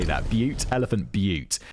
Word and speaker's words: Butte: Elephant Butte. Oh, it is pronounced. Kevin's given me a pronunciation guide in the next sentence. It's pronounced Butte.